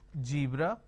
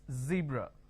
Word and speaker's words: zebra: a jar so what they do is they pronounce this as zebra Joan Jill so please don't make a mistake the moment you replace the Sir with a jar it's a mispronunciation it's not zebra it's zebra it's not John it is Zone it's not